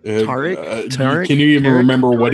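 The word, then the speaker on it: Taric: Tarek? Can you even remember what he did? What kind of abilities he had? I know he was... It's Tarek. It's Tarek? It's Tarek. How do you spell it?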